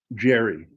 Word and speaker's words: Gary: The most I did was I named my middle son Jerry for his middle name. It's spelled Gary, like my name, but I pronounced it Jerry just to piss my dad off.